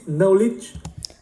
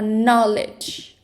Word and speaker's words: knowledge: His knowledge. Đọc là knowledge. Knowledge.